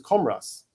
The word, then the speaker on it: Camross: Camross, or as I heard a Laois local a few times recently, who'd be in my extended friend group, refer to him as Cumross. Cumross. Is this how people pronounce it down in Laois? I see it and I say Camross.